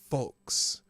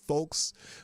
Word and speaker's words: folks: Do I pronounce the L in folks? Well, it just depends on how fast I'm talking. If I talk slowly, yeah, folks. But if not, it's folks.